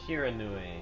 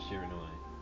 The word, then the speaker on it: Shiranui: Shiranui. I think that's how it's pronounced. That's how I'm going to be pronouncing it.